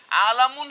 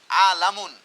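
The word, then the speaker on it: عالَم: বানানটা লক্ষ্য করো, এটা হবে আলামি, আলামুন। যদি এটাকে তুমি লামের নিচে জেড দিয়া যদি পড়ো আলিমুন, তখন কিন্তু অর্থ পরিবর্তন হয়ে যাবে।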